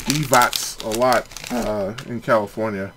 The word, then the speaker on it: Divac: a Toyota dealership and I think his last name is pronounced they said divots a lot uh in